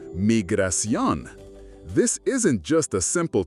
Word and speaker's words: Migración: In Spanish, you'll be directed to Migración, pronounced Migración.